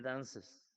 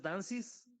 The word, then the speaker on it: dances: La e se pronuncia como si fuera entre la e y la i. He dances. No es dancis, pero tampoco es dances.